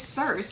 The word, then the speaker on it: Circe: I've had this book for years and I've never known how to like pronounce this. It's Circe.